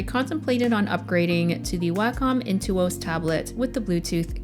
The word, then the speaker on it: Wacom: So first things first, I've been pronouncing this brand all wrong for the past decade. I was saying Wacom, but it's actually Wacom.